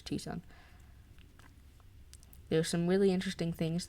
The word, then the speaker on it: Tucson: cities in the country, and Tucson, even though it's spelled Tucson. I'm pretty sure it's Tucson.